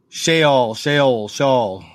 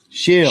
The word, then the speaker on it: Sheol: Sheol. Pronounce.